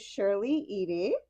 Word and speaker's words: Shirley Eady: With me here is Shirley Edy. I did pronounce that right.